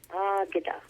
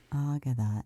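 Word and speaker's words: Águeda: Now tell me if I mispronounce her name. Is it Agueda Martinez? Ageda. Ageda.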